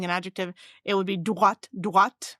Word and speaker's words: droit: So there's a word, how you will pronounce droit. I will say droit, like in Detroit, the city.